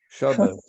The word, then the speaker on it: Shabbos: Que même parfois certains disent Shabbos, Ah Shabbos, oui. Shabbos, parce que c'est un tav, mais eux ne prononcent pas le tav, ils prononcent le S.